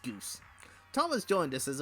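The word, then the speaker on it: Guise: And while everyone's in such a jovial mood, you can welcome our second our second strippling, young Tom guys, pronounced goose.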